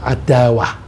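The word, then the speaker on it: عداوة: Terus kalau dijadikan kata benda, kalau bahasa Inggris itu germ, itu bacanya adawah.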